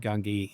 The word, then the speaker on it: Gungi: Gungi?